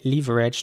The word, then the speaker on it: leverage: saying it though so the British English way would in my opinion be to say leverage to pronounce the e at the beginning more like an e again not like an air or air the American way